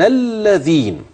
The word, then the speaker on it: الذين: وبين الذين وبين اللذين انا معايا اللام ومعايا همز وصل وخلي بالك ان اللام ادغمت في اللام وانطق بلام مشدده بس اوعى تقولها زي اللام المشدده في لفظ الجلاله اوعى تقول بين الله ده مش لفظ الجاله بين الذين لاحظ يجعل